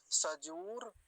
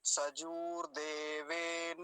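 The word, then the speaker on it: सजूर्देवेन: यह गलत उच्चारण है सजर नहीं सजूर ठीक है सजूर देवेन और दूसरी काम की बात क्या है देवेन हलंत नहीं है यहां पर तो क्या बोलेंगे सजूर देवेन ठीक है देवेन नहीं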